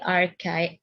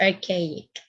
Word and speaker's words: archaic: periods of greek literature so we have the archive archive no uh synergia i just want to